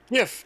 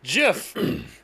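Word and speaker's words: Giff: Half of them say it with a hard G, half with a soft G. That's annoying. It's GIF. No, it's GIF.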